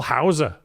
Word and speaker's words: Hause: Welcome to the show, Still Water Legend, Nicole Hower. What's up? That's like the actual way to pronounce. Yeah, you know, the German way.